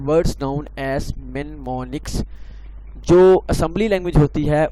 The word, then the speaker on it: mnemonics: It is pronounced as mnemonics.